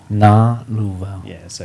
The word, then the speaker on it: Galuvao: Galuvao. Yeah, so I guess where everyone kind of gets tripped up is just the pronunciation of the G. Okay. So it's like singer. So the G in singer.